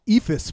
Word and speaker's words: Eephus: So how do you just for the listeners and my benefit, how do you spell that? EEPHUS. It takes its name from a pitch called the Ephus pitch that is the junkest of junk pitches in baseball.